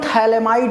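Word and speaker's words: phthalimide: Reaction का नाम है बहुत ही फेमस रिएक्शन है गैब्रियल थैलेमाइड रिएक्शन। इसमें पीए साइलेंट है भाई। पीए नहीं पढ़ना है।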